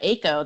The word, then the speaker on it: AACo: So at AACo, that's how we pronounce our acronym, AACo.